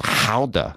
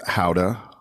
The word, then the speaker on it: Gouda: Actually, I learned that it was pronounced Hauda is the actual real pronunciation. But if you say it, it just sounds strange. So I'm going to keep with Gouda.